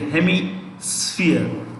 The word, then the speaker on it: hemisphere: the northern hemisphere hemisphere hemi sphere sf it's pronounced the p is pronounced with an f okay hemisphere if it's